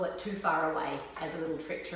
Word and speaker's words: Te Whare Ra: WH together in Maureen's pronounced like an F so you can call it too far away as a little trick